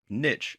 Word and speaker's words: niche: to have to choose the niche or niche as it's sometimes pronounced that you want to